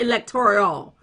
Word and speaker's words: electoral: Electoral, not electoral. Thank you, Tiny. Electoral.